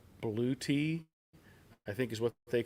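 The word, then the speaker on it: Bluetti: Daddy's Workshop channel uh I pronounced it as blue Eddie but apparently it's blue te I think is what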